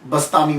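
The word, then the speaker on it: بسطامی: में आपका नाम जो है अबू यज़द यजीद बस्तामी मशहूर हुआ यज़द अब बा यजीद भी कहते हैं अबू यज़ीद बस बस्तामी जो है इसके प्रोनाउंसिएशन में कुछ लोग बुस्तामी कहते हैं, कुछ बिस्तामी कहते हैं।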